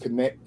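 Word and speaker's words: Kornet: I can't pronounce the name. Luke Connect.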